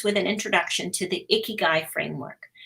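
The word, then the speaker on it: 生きがい: And we have the pronunciation now there, Ikigai.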